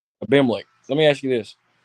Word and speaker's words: Abimelech: How do you pronounce his name? What are you saying? Abimelech. Abimelech.